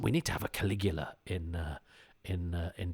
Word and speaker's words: Caligula: was first introduced to Caligula in um Judge Dread where there was Judge Caligula and they told essentially the same story although as a youth I pronounced it cigala um I've done a